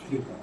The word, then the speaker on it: theta: SINE थीटा, this symbol is pronounce as थीटा, इसको हम pronounce करते हैं थीटा के रूप में।